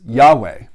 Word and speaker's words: Yahweh: word well you know many Jews today would pronounce it and certainly Christians would pronounce it as Yahweh and you may have